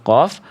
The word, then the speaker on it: ق: Titik fokus untuk huruf qaf adalah tempat pangkal lidah hanya menyentuh langit-langit lunak.